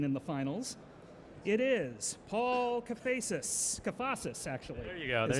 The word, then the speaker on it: Paul Kafasis: It is Paul Kafasis, actually. There you go. That's how go. I pronounce it.